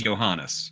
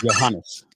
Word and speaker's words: Johannes: I told you it was Johannes. I'm saying your name wrong this whole time. Oh, terrible. I told you that's how you say his name. Johannes.